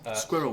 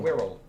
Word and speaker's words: squirrel: Squirrel. Squirrel. Squirrel. One syllable, more or less. It is, and I don't understand that one either. So There are definitely 2 syllables.